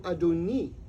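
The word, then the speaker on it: אֲדוֹנִי: we inhabit in fact the exact same spelling of that word would be pronounced in modern Hebrew adoni which means my master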